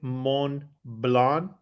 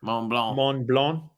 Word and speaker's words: Mont Blanc: our pronunciation corrected say mon blonde did I say that right yeah you don't pronounce g or the C Mont Blanc but we're not sorry